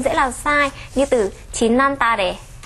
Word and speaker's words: 지난달에: Trong tiếng Hàn khi được viết là 지난달에 nhưng khi phát âm được nói là 지난달에.